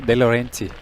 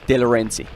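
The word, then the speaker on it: Delorenzi: How do you pronounce again? Who? Roberto De Laurenti. De Laurenti.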